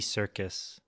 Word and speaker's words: Serkis: That Andy Serkis, I believe that's how you pronounce his name.